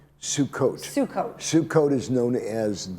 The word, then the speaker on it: Sukkot: Now, you've got a holiday of, how do you say, is it Sukkot? Sukkot.